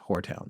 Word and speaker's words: Horetown: Well, we asked our guest tonight how to pronounce it, and he confirmed that it is Whoretown, so that's where the father is buried.